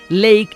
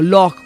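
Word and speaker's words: loch: para el lago entonces no se dice ley sino loco porque la palabra es celta la palabra viene del gaélico no del latín pero los escoceses han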